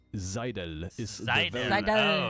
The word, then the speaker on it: Seidel: the very Seidel. Oh, it's like a Z Seidel, almost. the very Seidel. German way to pronounce it.